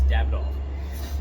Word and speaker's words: Davidoff: can think of is davidoff or davidoff right they called it i think in the uk the proper way to say it is dab it off and i i notice